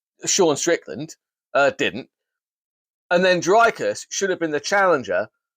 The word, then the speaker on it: Dricus: Dricus, the S is silent.